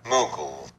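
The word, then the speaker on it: Mughal: nominally ruled by the Muggle Empire I bet I'm saying that wrong aren't I mugle yeah that sounds more plausible but as throughout most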